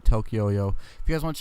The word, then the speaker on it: Tokyoyo: Tokyoyo. All right, Tokyoyo.